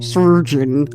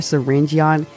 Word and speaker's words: Syringeon: Syringe, prepare yourselves, because I'm going to call him Syringe. I'm not calling him Surgeon. Like, that is not how you... that is not how you spell it.